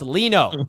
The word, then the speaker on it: Lino: No, Richie saying it wrong. I'm sorry, bro. Now I know it's Lino.